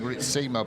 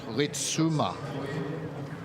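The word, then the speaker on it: Ritsma: And we said about, I was saying Ritsima, but it's Ritsuma. So with the pronunciation on the Rit.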